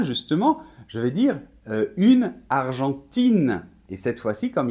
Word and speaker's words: Argentine: mets au féminin justement je vais dire une argentine et cette fois ci comme il ya un e à la fin ça casse le 10 grammes et entend y est le la lettre argentine comme le pays l'argentine donc finalement un conclusion